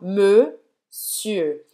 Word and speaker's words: monsieur: Presta atenção, monsieur, não é monsieur. Monsieur. Então você vai fazer a boca do O e falar E. Monsieur. E também para a parte final. monsieur.